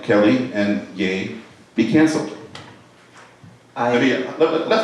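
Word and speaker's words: Ye: same thing about um yay that's how you pronounce that okay same thing I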